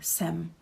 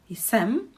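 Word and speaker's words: jsem: pronounced uh this form we just say sem it's not wrong to say isem but it's again putting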